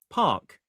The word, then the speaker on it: park: park and he went park. So when he read it, he pronounced the R, but when he says it, he doesn't say the R.